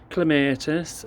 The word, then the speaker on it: Clematis: This is, how do you pronounce it? Clematis.